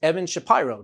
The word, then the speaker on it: Evan Shapiro: students film and production please welcome my guest evan shapiro to the program evan how are you doing today i'm good i'm glad you pronounced my name correctly that's odd well some